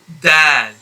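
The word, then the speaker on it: ض: very very close to the articulation point of that but the difference is that to pronounce this letter ta you will have to apply a much firmer touch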